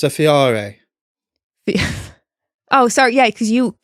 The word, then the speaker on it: Fiore: It's a Fiori. Oh, sorry. Yeah, because you It's an Italian name. So, do you want to pronounce it how it should be? Fior.